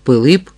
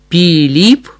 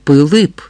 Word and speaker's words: Пилип: Григорій Орлик, старанно повторив гість, для правдоподібності все-таки зробивши наголос на останньому складі прізвища. Ну, нехай хоч би так, а батька мого звуть по-справжньому Пилип Орлик. Піліп Орлі Орлик?